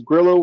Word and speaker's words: Gillow: Gillow rhymes with kilo and he drops the